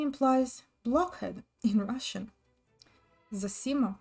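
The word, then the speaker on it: Zosima: implies blockhead in russian zasima pronounced zasima in russian a great elder and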